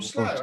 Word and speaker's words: Slough: From Slough, eh? Is that London? I think you pronounce it Slough.